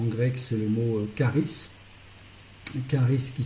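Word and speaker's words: χάρις: Charis qui s'écrit C-H-A-R-I-S.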